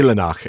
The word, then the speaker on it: Eilenach: Eilenach, actually. The EI is pronounced A.